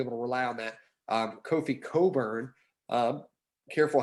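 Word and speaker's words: Kofi Cockburn: Kofi Coburn, careful how I pronounce that, also, seems to get himself in foul trouble.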